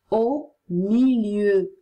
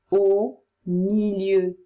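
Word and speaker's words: au milieu: significa accanto a fianco o milieu o milieu vuol dire in mezzo a u si legge o e u si legge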